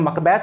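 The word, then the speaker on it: Macbeth: अब क्योंकि स्कॉटलैंड में, तो स्कॉटलैंड में इसका प्रोनाउंसिएशन मकबैथ होता है, ठीक है ना। तो आप मकबैथ करें तो भी ठीक है, और वो बल्कि ज़्यादा बेटर है, ठीक है ना।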